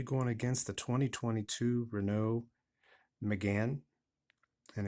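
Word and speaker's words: Mégane: against the 2022 Renault Megan and again it is pronounced McGann by the Europeans I'm not sure if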